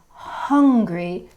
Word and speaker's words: hungry: so for that word hungry you can you can feel the breath on your hand hungry and the sound after